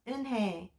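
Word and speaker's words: Unhei: no no unit corrected it's spelled u-n-h-e-i it's pronounced inhe oh it's you hey the boy said like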